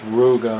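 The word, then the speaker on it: Rouga: By the way, it's Ruga, R-O-U-G-A, like shark. Ruga.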